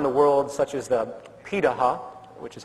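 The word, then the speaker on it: Pirahã: gatherer societies around the world such as the Paha which is how it's pronunciated uh out of Brazil amazingly it appears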